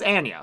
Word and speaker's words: Anya: And yeah, I'm pretty sure her name is pronounced Anya, not Anya. That's not just like my Michigan A's coming out.